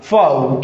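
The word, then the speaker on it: faux: इसका correct pronunciation क्या हो जाएगा? फाऊ।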